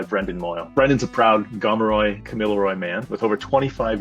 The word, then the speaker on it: Gamilaroi: It's um our language group is the Gamilaroi language group, which is where Kamilaroi, Gamilaroi, all those phonetic um pronunciations actually comes from.